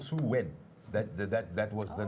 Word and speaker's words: Samhain: So it was actually called Samhain. That was the name, which is spelled Saim AI, but anyway, I know because I actually had to memorize it. It's pronounced Samhain. That is how it is pronounced.